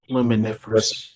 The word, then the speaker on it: luminiferous: Luminiferous.